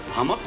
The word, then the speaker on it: Hummock: oh that's a cinch you remember names by rhyming them Hummock rhymes with stum so all I have to do is think of stomach and I can remember your last name is Hummock very interesting it's been